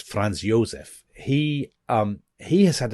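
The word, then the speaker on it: Franz Josef: Um so they've been Germany very you know it hasn't gone well Fran I should say in German it's France Yosef he um he has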